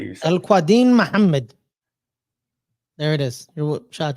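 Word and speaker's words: Al-Quadin Muhammad: Al Quadin Muhammad.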